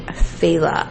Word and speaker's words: Failla: you about today is angelina marie feyla i believe that's how it's pronounced it's spelled l f-a-i-l-l-a and her mother's name